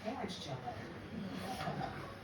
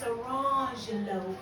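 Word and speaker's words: Orangejello: One says lemon jello, and the other one says orange jello. And I said, really? She said, no, it's not pronounced like that. It's orangelo and lemangelo.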